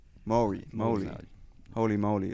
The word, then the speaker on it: Māori: Māori. Maori.